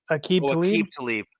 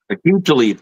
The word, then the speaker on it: Aqib Talib: Aqib Talib. Aqib Talib.